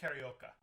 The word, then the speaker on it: Carioca: say his name jose carioca there you go you remember because it sounds like karaoke but it's karaoke and actually karaoke is